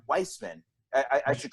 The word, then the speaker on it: Wiseman: and do it wiseman or i should say weissman i i should correct everybody it's pronounced weissman not wise men gotcha but uh but weissman he's he's the